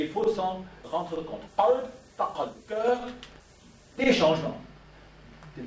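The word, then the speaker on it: قلب: J'ai dit en arabe, le terme principal pour le cœur, c'est el-qalb. Prononcé alb parfois, qalb, en écriture arabe.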